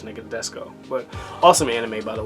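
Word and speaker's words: Nadesico: Martian Successor, Nadesco. I believe I'm saying it right, or Nadisco. I'm pretty sure it's Nadesco.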